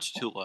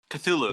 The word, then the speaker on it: Cthulhu: It's not Cthulhu. I'm saying it wrong. Cthulhu? Cthulhu? Cthulhu. That's it.